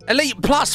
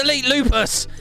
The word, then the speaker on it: EliteLupus: Elite Plus, why do people say it like that? It's Elitelupus. Lupus.